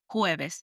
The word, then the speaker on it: jueves: Following this is Thursday, which is jueves, J-U-E-V-E-S, jueves.